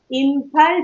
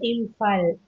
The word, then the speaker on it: Imphal: பிஹெச்னு வந்ததுன்னா ஃபா அப்படின்னு ப்ரொனவுன்ஸ் பண்ணணும். ஃபா. பிஹெச்ஓஎன்இ எப்படி ப்ரொனவுன்ஸ் பண்ணுவீங்க? பிஹெச்ஓ இல்ல, பிஹெச்ஓஎன்இ. Have to you pronounce this word? போன் அப்படிங்க, போன் அப்படிங்களா? பிஹெச்ஓஎன்இ. அது மாதிரி இம்பால் சொல்லக்கூடாது, இம்பால். IMPHAL. இம்பால். Manipur capital is இம்பால்.